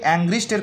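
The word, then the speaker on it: Angrist: তাহলে এই আংটি থেকে অ্যাংগ্রিস্টের কথা আমরা মনে রাখতে পারি। দেখুন প্রোনাউন্সিয়েশন কিন্তু সেম, ডি অ্যাংগ্রিস্ট।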